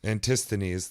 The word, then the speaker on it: Antisthenes: Antisthenes.